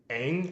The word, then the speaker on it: Ng: think deep learning.ai AI by Andrew Ang I think is how you say his last name.